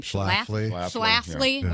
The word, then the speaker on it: Schlafly: How do you pronounce her last name? Schlafly, which is like the biggest proponent against it.